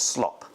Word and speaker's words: slop: I realize with my pronunciation, you probably sounded like slot machines, but it's slop. S L O P.